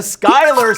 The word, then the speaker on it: Schuyler: now this is gonna be a toughy the Schuyler sisters but it's spelled destroy ler sisters all we lost a